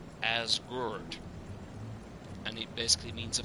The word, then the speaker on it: Asgard: Tales of Asgard, or as we learned from Len yesterday, it's pronounced more like Asgard, and it basically means a farm on a